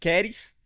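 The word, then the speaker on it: χάρις: A primeira saudação, graça, ela, no original, ela é pronunciada como charis, e a sua escrita é como se fosse charis, né?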